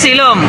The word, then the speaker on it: Silom: Challeng parang iba yung pronunciation nila ng ano silom. Silong silong.